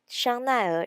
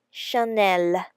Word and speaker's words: Chanel: about some famous French brand and how to pronounce it correctly first Chanel people often called Shania in Taiwan but in French it will be Chanel second it will be re-written some people just